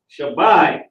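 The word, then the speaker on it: שבע: Shabbai. Okay, West Philly for life. Shabbai is how you say 7 in the Hebrew.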